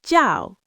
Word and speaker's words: 叫: The phrase is 我叫, which means my name is or I am called.